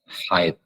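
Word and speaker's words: حيض: haid haid gitu ya pakai D dalam bahasa ind pakai D saja kayak pakai Dal gitu tapi bukan Dal aslinya dalam bahasa Arab dengan menggunakan huruf d kemudian dengan huruf ha juga depannya ya haid begitu haid itu namanya banyak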